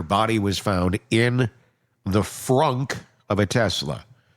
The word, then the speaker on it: frunk: was found in the frunk of a Tesla. That's not me mispronouncing things because I'm sick right now. It's literally a frunk. It's the front trunk of a Tesla.